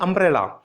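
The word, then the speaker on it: umbrella: अब देखिए अम्ब्रेला, यहां पर यू मत देखिए, लेटर को मत देखिए, साउंड चेक कीजिए। अम्ब्रेला बोलेंगे इसको, आ एक बाउल साउंड है, इसलिए एन का यूज किया गया है।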